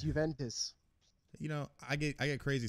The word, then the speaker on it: Juventus: That's, I love your pronunciation of words. It's Juventus.